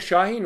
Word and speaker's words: Şahin: wird das wohl ausgesprochen das geht bleibt stumm wenn es so einen kleinen bogen oben drauf hat dass es hat so einen kringel darunter dann ist es wie das z ist ein weiches eso das c wird wie die ausgesprochen nur ein öl ist auch im türkischen ein öl wie in österreich die geschichte von uhr